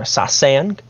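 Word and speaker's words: sasaeng: this uh but it's s-a-s-a-e-n-g or sasan I believe that's how you pronounce it is a fan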